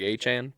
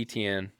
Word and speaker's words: Etienne: And he's like, it's pronounced like A-Chan, but he's like, everyone just calls me Etienne.